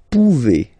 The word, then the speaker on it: pouvez: Then vous pouvez. Okay? Classic ending as well for the vous form. A Z like that. Okay? Remember you pronounce it E.